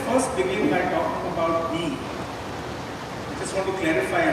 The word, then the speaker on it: BE: So let's first begin by talking about B. I just want to clarify again. It's spelled B E but the brand is pronounced B.